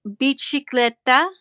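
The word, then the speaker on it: bicicletta: That's Italian. The C is pronounced chi. Bicicleta.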